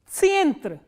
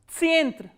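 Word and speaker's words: центр: And how will you pronounce this word? Tsyentr. Tsyentr.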